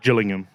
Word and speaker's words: Gillingham: Gillingham. Yeah. Gillingham's hard hard G.